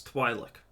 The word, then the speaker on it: Twi'lek: I mean, there's only one alien race that you know the name of in Star Wars, and that's Twi'lek. I even know how to pronounce it correctly.